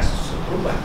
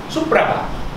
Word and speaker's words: Supraba: Kalau ejaan sekarang Simparaba orang baca Sepurba. Bukan Sepurba, Supraba.